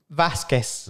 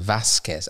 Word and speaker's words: Vazquez: did I get yours or is it vacas Vasquez Vasquez all right so we're off to a good start it's pronounced both names Andrew P Price where's the